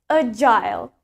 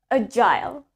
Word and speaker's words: agile: In British accent, we pronounce it as agile. Let's try it. Agile. One more time. Agile. While in American accent, sedangkan di aksen Amerika, we pronounce it as agile. Agile. Agile. Okay, in British, agile. In American accent, agile.